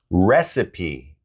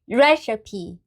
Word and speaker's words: recipe: Recipe. Recipe.